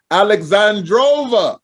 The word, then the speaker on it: AL3XANDROVA: And my very, very special guest, AL3XANDROVA. Did I say it right again? You did. AL3XANDROVA. I want to say it quick. AL3XANDROVA. Like that. Like she says it.